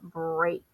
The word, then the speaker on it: break: There aren't that many words with EA representing the long A sound. So we have steak as in steak that you eat, and break.